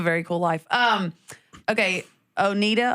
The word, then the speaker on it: Oneida: Um okay, Oneida, Onata, how do you say it? Oneida.